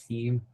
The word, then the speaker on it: Seam: I just want to ask, is your last name pronounced Seam? Yeah, it's pronounced as Seam.